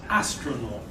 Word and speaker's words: astronaut: Astronaut. 3 syllables. Where's the stress? No. The beginning, yes. Astronaut.